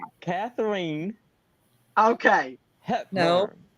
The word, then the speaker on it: Katharine: Catherine. And it happens every single freaking Catherine. time. So there's no L. There's no L in her name.